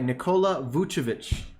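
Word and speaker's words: Nikola Vučević: Nikola Vucevic.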